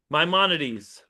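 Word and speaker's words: Maimonides: And pronounce his name again. Rabbi mymonades. May my monities.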